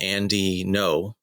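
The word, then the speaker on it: Andy Ngo: I follow a guy named Andy No, which is spelled NGO, on Twitter, and he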